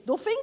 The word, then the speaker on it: Duffing: So therefore, the name, the correct pronunciation, so to say, is Duffing. So I'm fighting for this. In a certain way, it's not the Duffing oscillator, as everybody says.